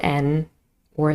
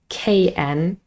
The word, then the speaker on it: know: spelling is N, double N, or sometimes KN, but the K is silent, so the sound is just We don't say kn, no, just You know that, for